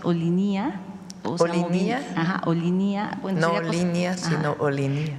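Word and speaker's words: Olinia: Y, Presidenta, preguntarle sobre el proyecto Olinía. Un grupo de pueblos indígenas me pidieron que, digamos, su equipo revisara la pronunciación. Ellos afirman que la pronunciación es Olinía.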